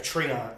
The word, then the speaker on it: Treant: Some people pronounce it Trent. I always pronounce it a Treant. So we had to change the name of that. Treant. Okay, Treant. Yeah. So some people say Trent. I say Treant.